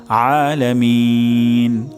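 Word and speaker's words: العالمين: এখানে আলামিন হবে অর্থাৎ গলার মাঝখান থেকে উচ্চারণ হবে আলামিন আলামিন তাহলে আমি প্রথমে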